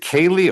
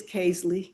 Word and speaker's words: Kaisley: Is it Kaylee or Kaisley? It's Kaisley.